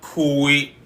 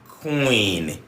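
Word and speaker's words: kw: And I said in that class that it is not kui like you might have in queen, but it is que. There's no difference between this and this, except that one is dry, one is voiced, and that's the way I can say. So que.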